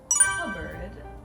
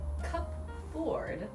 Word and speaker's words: cupboard: stuff in english so mine is cupboard or based on spelling cup ford but we just kind